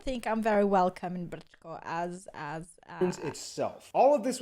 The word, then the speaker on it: Brčko: I know, it looks like Brčko. It's pronounced Brčko. That was a quadruple diphthong.